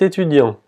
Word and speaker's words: étudiant: La E con el acento agudo se pronuncia como la E en español. E. E. E. Étudiant. Étudiant. Y otra vez la T, la última T no se pronuncia.